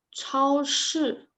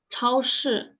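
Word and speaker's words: 超市: 不好意思 So 超市. I know these two characters are pretty hard because it has you have to roll your tongue. 超市.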